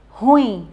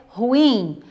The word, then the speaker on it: ruim: não no ru então muitas pessoas elas falam ruim e não é a pronúncia correta a pronúncia correta é ruim ao dividir mas essa palavra em sílabas nós